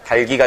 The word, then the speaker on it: 닭이: 닭이가 아니라 달기가 된다라는 거.